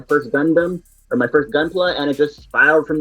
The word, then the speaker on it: Gunpla: you about your I gotta make sure I'm pronouncing this right. Gunpla, right? It's Gunpla. Yep.